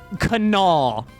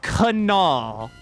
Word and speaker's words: Kanawha: him we got him there is no w sound whatsoever when you pronounce that the way you say it in accordance to west virginia dialect is by saying kanawha that is kanawha that's kanawha county kanawha high school the